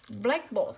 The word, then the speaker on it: blackboard: ta sẽ có là blackboard là ghép của từ black và từ board. Hai danh từ ghép với nhau trọng âm sẽ rơi vào từ đầu.